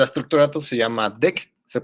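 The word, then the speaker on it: deque: Y aquí viene que es pronunciado como DEC, ¿no?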